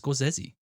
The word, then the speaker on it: Scorsese: M s's films um that's actually how you pronounce it is sesi um well I know better than trust you